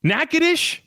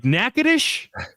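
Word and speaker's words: Natchitoches: in a region with like stuff spelled one way but pronounced a different way, it's perfect, right? Right. Like like nackadish. We all we've all cosigned nackadish.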